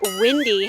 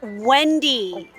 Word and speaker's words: Wendy: Oh, by the way, Wendy told me that she was gonna be 5 minutes late, so we gotta... Windy, how can the wind tell you that they're going to be 5 minutes late?